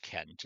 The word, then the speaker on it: Cent: scent, but it's pronounced Kent. It's still pronounced Kent just as it is as it is today.